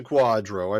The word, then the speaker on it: QDRO: now what is a Quadro I mean okay so Quadro which is spelled QDR stands for a qualified Domestic Relations order it's a court order